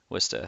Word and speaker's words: Worcester: And he booked shows in this space in Worcester, and Wista kid. Worcester, that's how you say it.